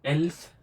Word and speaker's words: elf: एल्फ, ये तो simple है, ए ल और फ, एल्फ।